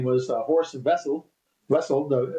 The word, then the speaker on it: Wessel: Wessel Vessel spel spelled with a W sounds like vessel.